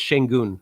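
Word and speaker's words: Şengün: pronounce this wrong Shane it's shenon I believe that's how it's pronounced green and Smith Jr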